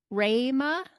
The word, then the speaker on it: Rhema: Like Rhema, even though there's an E, you say it like an A.